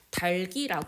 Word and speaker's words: 닭이: 된다 즉 자음군 단순화가 일어나지 않아도 된다는 뜻입니다 달기 발음하는 것이 합리적이다 그런데 실제 발음에서 닭이라고 발음하는 경우가